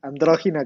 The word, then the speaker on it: Androgina: Yeah, Androgina Godhell. Yes, Yes, the accent is on the O.